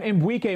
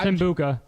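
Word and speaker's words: Egbuka: I haven't really looked. I don't know. It's Mbuka. I'm trying not to say Rare Reynolds because I think that sounds maybe offensive, and that's not the point. Mbuka.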